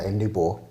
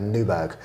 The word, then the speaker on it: Nyborg: So I was calling it's where we stayed is Nyborg, but I was calling it Newburgh, and just doing it on purpose.